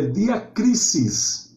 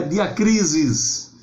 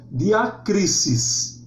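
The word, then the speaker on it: διάκρισις: Ele vem falando, o termo grego é diacrisis. Atenção, professores e alunos, não é diacrisis. Nunca o S grego tem um som de Z como em português.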